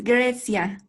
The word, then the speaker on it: Grecia: Grecia, I hope I pronounce it well. Yes, it's Grecia. And thank you, Alessia. It's like Alessia, actually, Grecia.